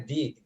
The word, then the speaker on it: the: So, the answer, ingat bacanya di. The ketemu huruf hidup itu dibaca di.